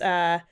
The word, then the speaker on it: Mehran: The first one is Mehran.